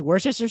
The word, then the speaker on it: Worcestershire: Yo, you guys know how to say Worcestershire sauce? How do you say that sauce? I thought it was Worcestershire sauce. It's Worcestershire sauce?